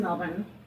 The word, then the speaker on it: Melbourne: you know now did you film this in melbourne um i'm saying it right yes that's right